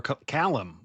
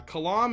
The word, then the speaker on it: Kalam: Oh, over Kalam or Callum? What What do you guys call him? Uh, Kalam is the audio book pronunciation.